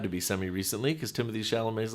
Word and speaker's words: Chalamet: pronounce- Chalamet?